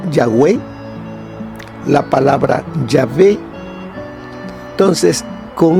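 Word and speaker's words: Yahweh: palabras a esas letras fue que se intercalaron vocales para poder entonces poderlo pronunciar y vemos que ahí sale la palabra ya way la palabra llave entonces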